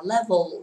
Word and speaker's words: level: Level không phải level nha, đừng có đọc là level mà là level. Nâng cái lưỡi mình lên vì âm này là âm cuối từ L đúng không?